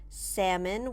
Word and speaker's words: salmon: salmon notice the pronunciation salmon we don't pronounce the L salmon tuna it's often